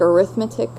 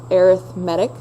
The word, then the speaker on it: arithmetic: sequence that's called arithmetic okay it looks like arithmetic but it's pronounced arithmetic and some things to look for for these